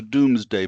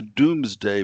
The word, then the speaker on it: Domesday: something that's called the Domesday Book. I sometimes joke about how the British don't pronounce anything right, and this word, a doom, is spelled D-O-M-E, but it's pronounced not dome, but doom.